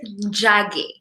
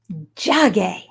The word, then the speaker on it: Njage: And will you please tell everyone the correct pronunciation of your beautifully, exquisitely beautiful last name? Njage. Njage.